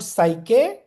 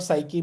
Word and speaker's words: psyche: to the Greek word psyche meaning soul I don't know whether psyche pronounce I mean normally in the way of pronunciation it should be pronounced as psych you know but you